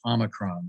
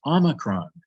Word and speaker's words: omicron: say that it is omicron not omicron omicron is the name for the short o in greek we have another letter